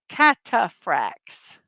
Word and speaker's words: Cataphracts: Cataphracts. Cataphracts. Note that H is not pronounced.